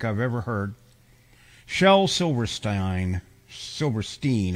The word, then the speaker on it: Silverstein: ever heard shell Silverstein Silverstein actually is how he pronounced it yeah silver kind of like Frankenstein you know yes um